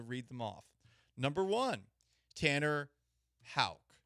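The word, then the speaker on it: Houck: them off number one Tanner ha it's not pronounced Huck Tanner ha the Red Sox two Garrett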